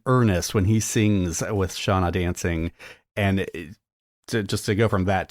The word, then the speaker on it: Seona Dancing: So honorable mention to Ricky Gervais and his singing career before he started acting with Shauna Dancing. It's spelled Seona Dancing.